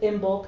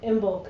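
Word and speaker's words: Imbolc: the you know the other uh um we pronounce it Imbulk as the end correct but whatever that's a whole another talk you know immulk and lunasa and and so those are and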